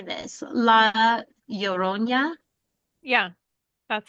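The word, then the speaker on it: La Llorona: Laorona.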